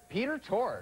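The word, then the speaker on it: Peter Tork: And my name rhymes with dork. Jason. Peter Torg.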